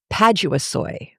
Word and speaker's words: paduasoy: PADUASOY. It's a big deal for about 2 pages. PADUASOY is spelled in the book exactly how you hear me say it. Padua, like Padua, soy, SOY.